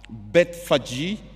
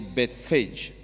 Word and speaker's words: Bethphage: I found that others pronounce it as Bethphage, and others say Bethphage.